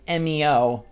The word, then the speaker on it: Emio: day that Nintendo reveals MEO, which even though it's spelled EMIO, Project M, MEO, doesn't that just line up all too well?